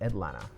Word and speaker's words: Atlanta: you gotta do is drop the second t and call it atlanta alright so there you